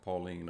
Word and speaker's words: Pauline: I know it's spelled like Pauline, but it's pronounced Pauline epistles. And it's 14 of them.